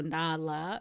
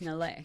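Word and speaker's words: na'laa: a pet name Nal now Nal is spelled n a apostrophe L AA so Nala is what it looks like but no no no it's nalle you're so upset I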